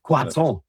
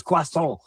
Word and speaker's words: croissant: I got to say croissant because I had 3 years of French, and that's how you say it. It's croissant.